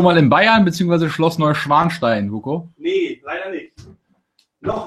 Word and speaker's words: Neuschwanstein: How do English speakers pronounce it? Neuschwanstein? Neuschwanstein. Yeah, there you go.